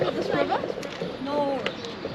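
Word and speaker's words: Nore: Nor. How do you say it? N-O-R-E.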